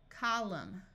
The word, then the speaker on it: column: combing climb climbing climber if you have MN at the end of a root the N will be silent so this sound is m m Au says a Autumn column solemn if you have